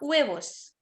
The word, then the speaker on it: huevos: अच्छा कई बार मैं सुनती हूँ हुएवो, huevos एच साइलेंट। हाँ हुएवोस, ठीक है हुएवोस। कई बार सुनती हूँ तो वी का साउंड आता है।